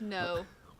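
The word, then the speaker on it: Ngo: pronounce his last name it's three letters NG o it's no it's yes that's him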